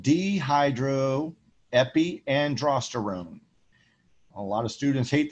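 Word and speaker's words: dehydroepiandrosterone: the reticularis is called dehydro epi androsterone a lot of students hate this name because it's very long but it is spelled exactly how you pronounce it d hydro epi and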